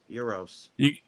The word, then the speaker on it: gyros: Euros. Well, there you go. The G is silent. Yeah. It's called a euros.